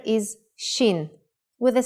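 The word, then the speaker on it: שין: Shin is pronounced shh when the dot is on the upper right side.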